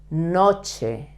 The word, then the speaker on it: noche: night do you remember Noche Noche another word with the c and the H together uh like koche it's the word is almost the same it only changed the first letter the short night La